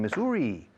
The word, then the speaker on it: Missouri: The next one, Missouri.